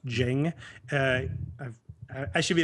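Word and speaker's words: Dieng: plus i think georgie jang i believe it's pronounced jing uh i've i should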